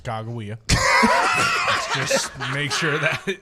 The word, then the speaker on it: Sacagawea: Sakakawea. Which is also a pronunciation of Sacagawea. Yes. By the way. I mean, but we have clarified that it is pronounced Chicagoia.